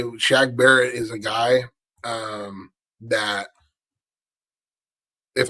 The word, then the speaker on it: Shaq Barrett: But I can say Shaq Barrett is a guy that, if I'm not saying it, Shaq Barrett, correct?